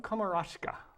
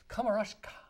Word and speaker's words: Komarechka: Well, you've put me up on a pedestal and you've pronounced my name wrong, so we're off to a great start. Komarechka. Didn't I get it right? Komarechka. Komarechka. There's an A-R-E in it.